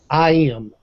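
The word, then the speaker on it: EyeEm: give you an example I am that's e eem pronounced I am is a it's a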